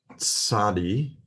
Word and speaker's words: tsadi: The next letter is tsadi. It's pronounced as a TS sound, as in the final syllable of the word boots. So boots, and it depicts a fish hook.